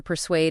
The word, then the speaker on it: persuade: The pronunciation for persuade is purr s no o d and spelling p e r s u a d e. Remember that's su aart. It's a bit unusual like in suave or persuasion.